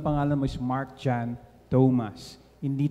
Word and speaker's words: Thomas: Mark is not a direct Disciple so ang pagbigkas mo ng pangalan mo is Mark John Thomas hindi Tomas namang Tomas ha um I love the Ano